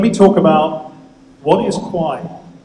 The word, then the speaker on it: Kwaai: Let me let me talk about what is Qui it's a really really funny word k w a a i lots of people misspell it kwi I I uh Kwa ai.